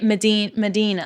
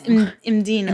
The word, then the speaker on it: Mdina: I think I used to say Medina. Yeah, that's wrong. And it's Imdina. Medina, yeah. Imdina. Medina. Oh, look at the ladies there. I'm going to Medina. Imdina.